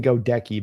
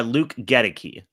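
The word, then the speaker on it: Goedeke: All right, we got uh now I keep saying go decki, but you were probably pronouncing it correctly. How do I got to be pronouncing this? Uh Luke Geti.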